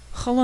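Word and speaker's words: holam: written below the letter hola makes the o sound in home if this sounds familiar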